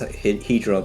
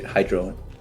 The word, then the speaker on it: Hydron: Yeah, we call it in Korea Hydron. Hydron. Yeah, the exact pronunciation is Hedron, but for you guys, we'll just say Hydron.